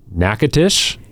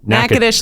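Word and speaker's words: Natchitoches: looking up this town's name and then try pronouncing it because it is one is not like the other. Nackadish. Yes. Nackadesh, Louisiana. Nackadish, Louisiana. Okay. Nackadesh. You and NCPTT are based out of Nackadish, Louisiana.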